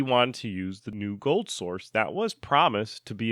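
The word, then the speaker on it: GoldSrc: engine that they called gold Source um spelled g o l d Sr C but pronounced gold Source this engine would then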